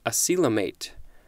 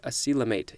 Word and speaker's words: acoelomate: more for this episode I believe this is pronounced a coelom 8 I see a coelom 8 yep noun circa 1889